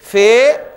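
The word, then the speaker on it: ف: बल्कि क्या बोलेंगे बा फे आएगा तो हम उसको फा बोलेंगे ये इसलिए जरूरी क्लियर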